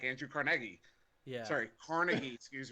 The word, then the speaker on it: Carnegie: street for me city he founded his neighbors pronounced Carnegie y'all are all wrong that's all right but